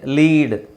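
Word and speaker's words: lead: need ಅಂದ್ರೆ ಅವಶ್ಯಕತೆ ಅದೇ ಲೀಡ್ ಲೀಡ್ ಸಾರೀ ಇದು ಲೀಡ್ ಅಲ್ಲ ಇದು ಲೆಡ್ ಇದರಲ್ಲಿ ನಿಮಗೆ ಲೀಡ್ ಅಂತ ಬರುತ್ತೆ ಎಲ್ ಇ ಎ ಡಿ ಲೀಡ್ ಅಂತಾನೂ ಆಗುತ್ತೆ ಲೆಡ್ ಅಂತಾನೂ ಆಗುತ್ತೆ ಈಗ ಇಲ್ಲಿ ಉಚ್ಚಾರಣೆ ಒಂದೇ ಇರಬೇಕಾಗಿರೋದ್ರಿಂದ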